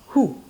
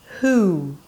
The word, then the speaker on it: who: It's not who. Who.